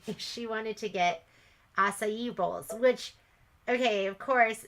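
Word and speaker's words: açaí: bowl and you know the first time I ever saw it I called it in a cable because it's spelled a-c-a-i and of course you know she corrected me she's like it's acai I'm like okay okay I'm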